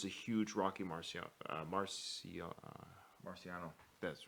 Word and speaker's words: Marciano: know there is a huge Rocky Marciano Marcia Marciano that's right thank you fan I was I was afraid to pronunciate that because I knew when those coming